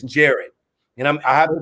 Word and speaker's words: Jarrod: is it gary is jared jarrett jarrett i just i i do i i cause you know when we look when we see now if i see that i say gerard but it's jared you know i have